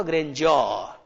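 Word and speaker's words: grandeur: तो यहां इसका उच्चारण होगा ग्रैंडियर, बट इन द ग्रैंडियर ऑफ बिग।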